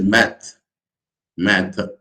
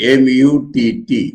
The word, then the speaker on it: mutt: now this mutt mith i've heard the millions pronouncing it as math math because h is there and swami akanda is writing from virumata or somewhat he knows that so he's writing m-u-t-t mutt because there is